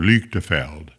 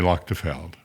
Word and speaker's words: Luchtefeld: I guess if you were in Germany, they would call it Lafeldel. Uh most people just say Loctafeld.